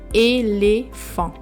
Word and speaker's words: éléphant: And the T is silent. So you read the word éléphant.